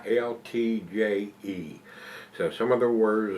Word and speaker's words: Uiltje: It says here, it's Brouwerij het Uiltje, it's Uiltje. So some of the words are pronounced kind of different, and I really don't know how to pronounce anything.